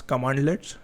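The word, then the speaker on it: cmdlet: These are oftenly pronounced as commandlets, and these are PowerShell commands which you can execute against any system.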